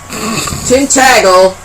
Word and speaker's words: Tintagel: Tintagel, exactly how it's said, England in the UK.